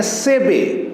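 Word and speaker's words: Seibei: लेकिन इसको real pronunciation जो इसका करेंगे सेबे, यानी कि ये आई और ये आई को प्रोनाउंस नहीं करेंगे, डायरेक्ट बोलेंगे सेबे, यानी उसका नेम क्या है? सेबे।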